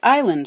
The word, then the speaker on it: island: And people were happily pronouncing it and writing it as island, until someone picked up an S from the Latin insula and stuck it where it was never meant to be.